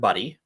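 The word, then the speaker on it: Budde: And one of the people speaking was the Episcopal Church's bishop for Washington, D.C., a woman by the name of Reverend Buddy.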